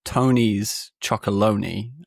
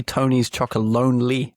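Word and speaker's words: Tony's Chocolonely: know about which is Tony's Chocolone. Do you have Tony's Chocolone in America? Yes. Yeah. It's actually Tony's Chocoloni.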